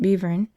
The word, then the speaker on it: Belvern: Upon arriving at Great Belvern, which must be pronounced Bevern, I took a trap,